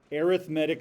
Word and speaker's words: arithmetic: This is called or pronounced arithmetic sequences. Okay, I know it says arithmetic, but it's arithmetic sequences.